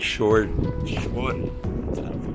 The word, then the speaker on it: Shoreditch: Shore, like seashore ditch? but I don't think it's pronounced that. I know I've heard English people say it. It's like Shoreditch.